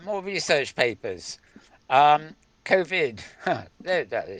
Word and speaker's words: COVID: Facing Cavod 19. God, they need a. That is not how you pronounce it. It's COVID, not Cavod.